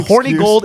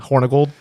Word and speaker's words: Hornigold: Now, Horny Gold is not the actual pronunciation, but from here on out, we will call him Hornigold. What's the actual pronunciation? Hornold.